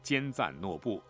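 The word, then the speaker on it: 坚赞诺布: 中签的五岁男孩叫坚赞诺布，发音和江村罗布相同。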